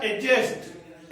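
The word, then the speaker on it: adjust: कर लो, एडजस्ट या एडजस्ट। एडजस्ट हमेशा ए और जे के बीच में डी क्या रहेगा? साइलेंट। तो वेरी गुड, इसको क्या बोलेंगे?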